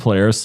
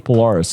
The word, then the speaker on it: Polaris: bands like uh Polaris is it pronounced Polaris I'm pretty sure I've I've switched it used to be players to me but now people are like oh it's Polaris and I call it Polaris but anyway [ __